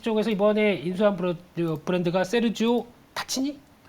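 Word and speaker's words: Tacchini: 네, 그래서 테니스 쪽에서 이번에 인수한 브랜드가 세르지오 타치니? 타키니? 네. 네, 원래는 그 이탈리아 발음은 타치니인데 네. 타키니라고 하더라고요. 네, 근데 이게 한때 조코비치라고 아시죠?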